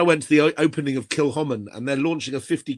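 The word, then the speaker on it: Kilchoman: And when I heard that in Norway, they can't pronounce the name Kilhoman. They call it Kikkoman.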